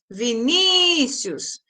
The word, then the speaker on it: Vinícius: Então, a sílaba que se prolonga é ni, Vinícius. Então, a penúltima sílaba é a mais forte, portanto, é uma palavra paroxítona.